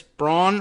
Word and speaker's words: Braun: really something you know if that guy is bran or bran like Mike brought on okay well anyway I know this in two ways I looked it up on Twitter for a pronunciation guide and then I checked on Hugh Hewitt show where he was a guest and he would announced him as Mike Braun I'm voting for Mike